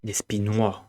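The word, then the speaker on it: Despinoy: Despinois. We don't pronounce the S.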